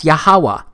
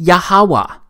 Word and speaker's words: Yahuwah: simple back then that it vocalized each consonant with an ah sound without specifically marking that sound between consonants so this yhwh it's pronounced yahawa it also turns out